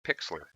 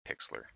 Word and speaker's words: Pixlr: I want to share with you is called Pixlr it is spelt like this p IX L R and